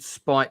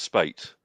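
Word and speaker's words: Speight: Richard Spite Senior. I'm just wondering if that's somebody we should know. I do apologise. I believe it's pronounced Spate.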